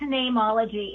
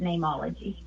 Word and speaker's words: Neimology: It's Neimology. It just has a Latin spelling because you can't trademark a common word like name. And so I spelt it how name is said in Latin, which is N-E-I-M, but I still pronounce it Neimology.